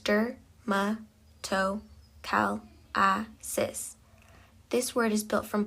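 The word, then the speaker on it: dermatochalasis: The third term is dermatalis pronounced durmtoalis.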